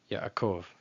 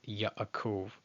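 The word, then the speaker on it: יעקב: That ayin is pretty much just ignored entirely, and the patach and the patach, the chat of patach, they're just conflated into one syllable, Yaakov, Yaakov. But staying faithful to the way that it's written, it'd be Yaakov, Yaakov, with a little pause in between.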